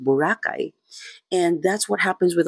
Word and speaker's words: Boracay: That's why it's pronounced Burakay.